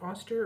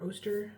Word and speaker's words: Oster: It's by Robert Austster or Oster, depending on how you want to pronounce that.